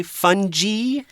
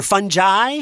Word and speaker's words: fungi: Or sometimes people might say fungi or fungi. Fungi. Fungi. Yeah. Okay. It's kind of a crazy word. If you look it up in the dictionary, it will give you both pronunciations.